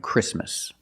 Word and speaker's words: Christmas: And when you see T between consonants, it's silent. Don't pronounce the T. If you link the sounds, do not pronounce the T. Examples, exactly and Christmas.